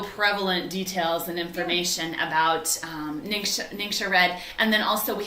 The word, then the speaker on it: NingXia: So, as you can tell, I've already said it enough times, but how do you say this word? It's NingXia. Oh, it's not ninja?